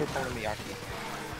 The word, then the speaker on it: okonomiyaki: I can't remember how to spell it. Fuck you. It's okonomiyaki. Okonomiyaki?